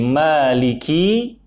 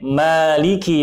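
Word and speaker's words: مَالِكِ: Pada kalimat Maliki, kaf yang berharokat kasrah dibaca pendek, tidak dipanjangkan. Kalau dipanjangkan ditambah dengan huruf ya kasrah menjadi Maliki, maka dibacanya menjadi Maliki Yaumiddin. maka artinya maknanya berubah. Jika dibaca pendek Maliki Yaumiddin, maka artinya yang menguasai hari pembalasan.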